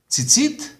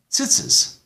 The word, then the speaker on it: tzitzit: Shabbat and Shabbos. A prayer shawl. Some say talit, talus. The fringes, tzitzit, tzitzis. This is not only a difference in where the emphasis is on the syllable. This is a difference in sound completely.